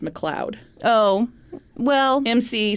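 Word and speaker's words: McLeod: name m mck oh I think that's pronounced McLoud oh well MC c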